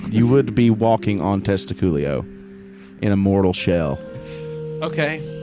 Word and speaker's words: Testicoolio: stepping foot onto the scrote okay it's it's pronounced testiculi oh yes you would you would be walking on testiclio in a mortal shell okay in a mortal